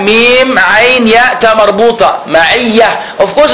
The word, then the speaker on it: معية: However, when in the Arabic language, when you want to stop at that word, or you want to read it on its own, you don't pronounce the ta.